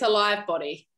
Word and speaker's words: al.ive body: Is that the correct way of pronouncing the brand, al.ive? It's al.ive body.